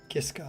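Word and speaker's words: Michael Kiske: It's sung by Tobias Sammit, Sharon Den and Adele within Temptation, and at the end, Michael Kisa Kiska, that's how you say it.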